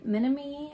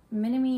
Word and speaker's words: Minami: this Polo um by Minami I believe it's pronounced minimi knit design and this